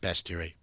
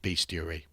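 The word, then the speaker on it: Bestiary: we go dragon's best it's pronounced besty it's not beasty I see so many people call it say beasty no besty besty cursed created by Ed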